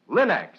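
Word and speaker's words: Linx: It's spelled L-I-N-X. Linex.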